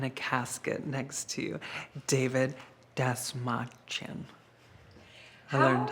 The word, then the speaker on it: Dastmalchian: Um, I never thought that I would get to be in a casket next to David Dastmalchian.